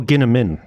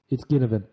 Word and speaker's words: Ginnivan: Quickly before my tip, 2 things: is it Ginnivan or Ginnimin? It's Ginnivan. Okay, sweet. Okay, I know it's spelled with a V, but I swear everyone pronounces it with an M, and it was doing my head in.